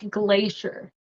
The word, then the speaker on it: glacier: say this one here so this is a CSH sound then glaz is a long a so Glacier Glacier so it's kind of